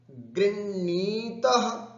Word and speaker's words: गृह्णाति: उच्चारण में यहां पर विशेष रूप से ध्यान देना है। गृह, गृह ऐसे ह को उच्चारण करके फिर णाति, गृह्णाति, गृह्णासि, गृह्णामि, इस तरह का उच्चारण अपने को करना है। गृह्णीतः, गृह्णीथः, गृह ह उच्चारण करके फिर णकार आदि का उच्चारण करेंगे तो शुद्ध होगा।